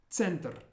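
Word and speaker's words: центр: The first word is center, center. And you'll notice the R at the end really rolls, center.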